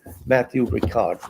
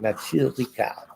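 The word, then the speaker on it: Matthieu Ricard: It's an anthology, Matthew Ricard. Matthew Ricard, as Astrid corrects my pronunciation.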